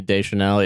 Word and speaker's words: Deschanel: Emily Deschanel, yeah. Yeah, I mean Emily Deschanel, I'd never seen her in anything previous, but I also was 8 years old, so yeah, you know.